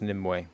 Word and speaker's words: Nimue: It is actually pronounced Nimway, even though it's spelled N I M U. It's Celtic, so it's actually got three syllables.